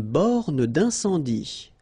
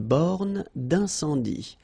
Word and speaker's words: borne d'incendie: Une borne d'incendie. Okay, final E here not pronounced. Final E here not pronounced. Une borne d'incendie. And then you get the nasal. Un, en, un, sans, dit. Une borne d'incendie.